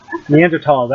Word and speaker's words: Neanderthals: Sorry, Neanderthals. Actually, Tals is like the correct pronunciation Oh, or whatever.